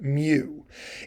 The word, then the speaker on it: mu: Greek letter mu or like I say it's pronounced Mew it looks a little like an m a